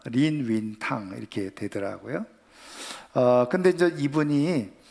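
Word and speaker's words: 林語堂: 임어당이라는 분인데 이 임어당을 중국 발음 그대로 하니까 린윈탕 이렇게 되더라고요.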